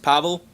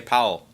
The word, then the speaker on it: Pavel: We've got cool, it's pronounced Pavel. Thank you, because I had no idea how you say that. I see the W, and I just say Powell.